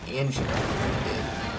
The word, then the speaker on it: Anjanath: Now, in this video, as you're going to be seeing, is going to be me against the ANJANATH. That's how you actually pronounce it.